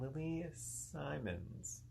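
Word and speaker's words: Lili Simmons: who looks nothing like his normal self, and Lily Simons.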